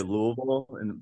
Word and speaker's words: Louisville: I say Louisville right we act like we have mashed potatoes in her mouth and we say louu but you're technically saying it right yes my my Northern